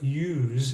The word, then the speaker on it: use: and I observed that the s in that verb does not sound like an s a standard English as it sounds like a z when you say I used my computer you can feel the Z the vocalization in your throat now I have a